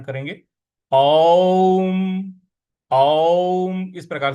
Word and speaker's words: ओम: देखिए, यहां ओम का जो उच्चारण है वो अ उ और म इनसे मिल के बना हुआ है, तो इसका वैसे ही उच्चारण करेंगे। ओम। ओम इस प्रकार से बोलेंगे, ओम नहीं बोलना है।